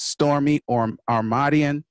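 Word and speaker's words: Stormie Omartian: Y'all need to learn how to pronounce that name. That's Stormy Omartian.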